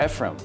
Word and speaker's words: Ephraim: So this is Ephraim, and I'm pronouncing that correctly, right? With the M at the end. Ephraim.